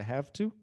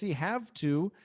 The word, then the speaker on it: have to: muito não são poucos have to nós acabamos pronunciando o v como f have to have to I have to go é tão rápido que o v se torna f em muitas situações I